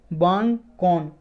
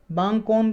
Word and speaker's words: Bawngkawn: इसकी प्रोनाउंसिएशन कुछ और भी हो सकती है, BAWNGKAWN, बांगकोन। बांगकोन पहाड़ी है, रेंज है आइजोल में, आइजोल से ये निकलती है चिते-लुई रिवर।